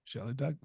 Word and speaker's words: Shellye: Shellye. Wow. There you go. But it's spelled Y-E, right?